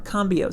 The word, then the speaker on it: Cambio: it's pronounced cambrio Cambio I don't know if there's an r in there no no R combio c-a-m-b-i-o it is an